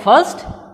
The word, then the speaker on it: first: So, here R is silent. While we pronouncing this word, we will not pronounce this R sound, R first.